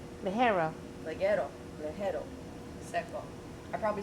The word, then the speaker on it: ligero: I'm sorry, leguro. Ligero.